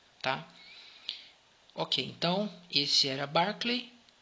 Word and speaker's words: Berkeley: o nome dele errado apesar de estar escrito berkley a pronúncia é barkley então o barkley era